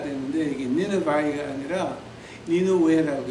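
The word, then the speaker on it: Nineveh: 그래서 이제 그걸 뭐 킹 제임스로 번역을 하면서 그 독일 이름을 갖다가 영어로 받음하니까 니느바이가 되는데 이게 니느바이가 아니라 니누웨라고 해 히브리 말로 말하게 되고 그러니까 뭐 니누웨라고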